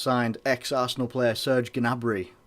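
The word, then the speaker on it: Gnabry: player surgeon a Bri I think that's how you say his name not the best with some names but when you put a G in front of an end what am I meant to do anyway Douglas Costa is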